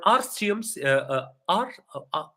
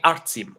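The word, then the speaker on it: Artem: previous night so for arum okay I'm so sorry I I think your mispronounced your name art okay artum all right right so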